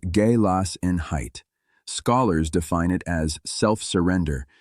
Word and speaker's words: Gelassenheit: The word is galassin height, roughly pronounced galas in height.